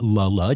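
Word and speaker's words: Le Le: pronounced wrong when I announced it it is pronounced lulla despite being spelled l l e and um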